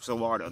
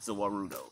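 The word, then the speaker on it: Za Warudo: And it's actually pronounced Zawardo, not Zawarudo. Sorry.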